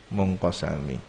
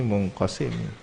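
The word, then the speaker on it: مُنْقَسِمِ: Ada yang membacanya munqasami. Yang masyhur di sini munqasimi.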